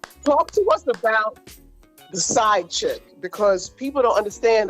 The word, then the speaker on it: SciEd: And so the side chick was born. It's spelled SCIED, like fusion of science and education. I call her the side chick.